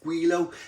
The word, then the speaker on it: Gweilo: had a few of them i think i'm pronouncing it right guilo this is their peanut butter and raspberry jam